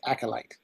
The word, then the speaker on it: acolyte: I think the proper pronunciation is acolyte.